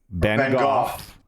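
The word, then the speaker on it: Bengough: Can you pronounce those? Is that Ben Go? Ben Goff.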